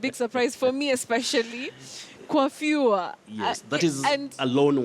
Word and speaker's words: coiffure: But in this case, in English, you say coiffure.